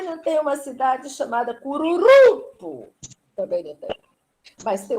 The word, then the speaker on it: Cururupu: Cururupu. Cururupu. Qual é a sílaba forte? Pu. É o pu.